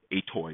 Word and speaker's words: atoi: positive integer so atoi a toy if you want to pronounce it ascii to end you're going to take